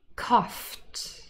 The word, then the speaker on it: coughed: of words surfed surfed coughed coughed i know coughed laughed funny spelling here the gh is really a f sound coughed coughed is in